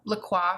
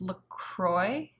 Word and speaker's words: La Croix: I love La Croix, for example, although I know it's supposed to be pronounced LaCroix. that right? LaCroix. To me, it will always be LaCroix because that's just how I've read it.